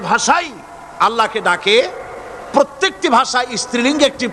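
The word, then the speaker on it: الله: আল্লাহ পাকের উচ্চারণটা হচ্ছে, আল্লাহ পাকের নামের উচ্চারণ হচ্ছে আল্লাহ। মুখটা একটু গোল হয়ে যাবে, বলেন আল্লাহ আল্লাহ সুবহানাল্লাহ।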